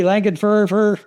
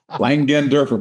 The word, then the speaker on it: Langenderfer: Today, an old friend zooming back in from Texas, Randy Langenfer, and I just screwed up your name. Langand Derfer, but it's all right.